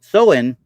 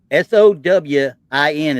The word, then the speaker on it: Samhain: Soin, Sowin is how it's pronounced. Okay, with accent on the SOW. The Soin. so handy. Okay, Hmm. but it's spelled Samhain. Okay, obviously the Celtics had